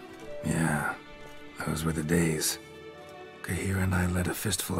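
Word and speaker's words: Cahir: and i see i used to always say k here i would always pronounce it k here and i did it for years and then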